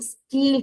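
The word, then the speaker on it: stele: इस तीनों को एक साथ हम लोग कहते हैं स्टीली स्टील कहते हैं। एस टी ई एल ई आपके बुक में इन लोगों ने दे दे रखा है। इसको प्रोनाउंस करना है स्टीली। स्टीली प्रोनाउंस करते हैं।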